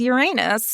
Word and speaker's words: Uranus: in your stars with Uranus MH thank you for honoring the right way to say that by the way Uranus it was really hard